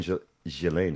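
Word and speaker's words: Ghislaine: it came out during Gilain Maxwell I believe is the way the proper way to say Galileain Maxwell's case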